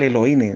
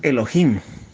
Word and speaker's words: Elohim: la concordancia de Strong, vemos que la palabra Elohim, algunas lo pronuncian mal Elohim, la pronunciación correcta es Elohim, ¿ya?